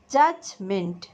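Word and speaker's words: judgment: জাজমেন্ট, এখানে দেখো জাজ যখন আমরা উচ্চারণ করি ডি সাইলেন্ট, জাজমেন্ট বিচার।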